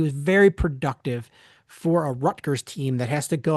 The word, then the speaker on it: Rutgers: Well, here's the thing: is it so it is spelled Rutgers, Rutgers. But if you talk to anybody from New Jersey and ask them to pronounce it, they pronounce it Ruckers.